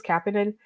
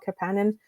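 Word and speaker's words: Kapanen: So I always thought it was Kenan. Um that's how we pronounce the other guys' names, but Oliver apparently would prefer to be called Capan.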